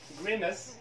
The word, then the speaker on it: grimace: palace معناها قصر palace necklace معناها قلادة ثم grimace معناها قسمات الوجه grimace هنا A كلها عبارة